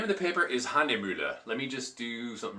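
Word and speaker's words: Hahnemühle: The name of the paper is Handemühle. Let me just do something real quick here. You'll see it. And I'm saying that with the proper pronunciation of the umlaut, I believe.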